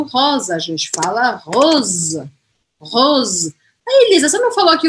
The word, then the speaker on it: rose: ter o acento aqui no final eu vou pronunciar o editor muda tudo aqui tá aqui eu vou falar rose o z rose rose tá bom já tô saindo da galera